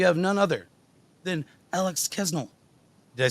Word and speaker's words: Kasznel: I say Kasznel usually, but like there's an S and a Z. There's too many consonants. It's a weird name.